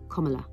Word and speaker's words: Kamala: According to her own memoir in 2019, Kamala Harris says, it's like the punctuation mark, comma, Kamala, Kamala Harris.